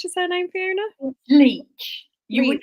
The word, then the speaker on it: Leitch: Leitch. You Leitch. would not believe the mangled pronunciations I've had. I've had Leitch, Leitch, all sorts, but it's Leitch. It rhymes with bleach.